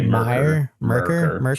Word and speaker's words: Myrkur: Myrkur. I say Merkur. Myrkur. Okay.